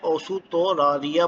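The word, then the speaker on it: オーストラリア: इसको जापानीज में ओसुतोरारिया बोला जाता है, ओसुतोरारिया, ओसुतोरारिया।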